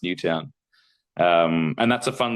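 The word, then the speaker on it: Newtown: It's New Town. Um it it is town but I do I have a friend who last name is but yes the suburb of Sydney uh is is pronounced New Town.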